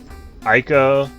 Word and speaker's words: ICO: ever heard of that ICO or is it is it Iko Iko I took his eco because it's Japanese and I is pronounced e so I think no